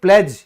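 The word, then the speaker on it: pledge: फिर प्लेज यानी कि प्रतिज्ञा, इसमें भी क्या है? डी साइलेंट है।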